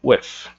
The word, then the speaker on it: with: Esse with, a pronúncia dele é como se aqui fosse um sopro, esse TH. Vocês vão pronunciar we, e esse TH é como se fosse um sopro. with, O TH é como se fosse um sopro, with.